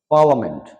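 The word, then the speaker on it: parliament: case of পার্লামেন্ট পার্লামেন্ট এখানে আই শব্দটা উচ্চারণ হবে না পার্লামেন্ট হবে পার্লামেন্ট নেক্সট এল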